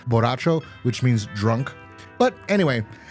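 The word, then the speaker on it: Borracho: Barachon. It's actually not how it's pronounced. white people. Barone. Barone. You know what Barone means? It's actually pronounced Boracho which means drunk.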